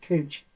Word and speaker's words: couch: So that it's looks like couch but it's actually pronounced cooch.